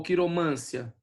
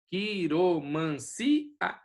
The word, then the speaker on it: quiromancia: Depois, quiromancia, tá vendo? Ou quiromância? Não, aqui, ó, quiromancia. Então ali é o hiato, certo? É o si que é a mais forte.